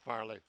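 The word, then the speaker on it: Fehrle: of the boing troops he spells it f e h r l e but it said like Farley but good try nice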